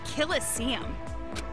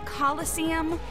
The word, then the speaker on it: coliseum: it right there's no such thing as a killer seam what it's pronounced coliseum which is an amphitheater made in ancient rome